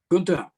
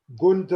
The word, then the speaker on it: Gunther: my humble request is please the pronunciation of my german name gunther ganta is a male duck i know can can make sound like a male duck but just call me gunther or gunter but not gunther okay excuse my